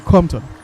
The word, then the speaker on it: Compton: Lucia, John Compton. John Compton. Yes. So the P is silent. Just said Compton. Simple as that.